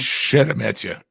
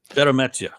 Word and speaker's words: Sheremeta: Roman Sheremeta, is that how we pronounce the name? Sheremeta. Sheremeta.